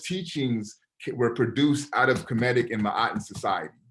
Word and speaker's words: Kemet: So one thing with Kemet, they don't really deal with vowels, how we understand vowels to be. So the actual spelling of Kemet, even though I spell it K-E-M-E-T just for our language, is actually K-M-T, right? It's Kemet.